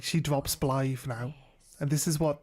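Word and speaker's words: Blaidd: They'll read it as Blythe. But other people, I hear people calling him Blyde.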